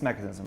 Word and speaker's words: Mekanism: excited to have Jason Harris here founder of mechanism I pronounced that right that's mechanism yeah co-founder co-founder of mechanism a kit and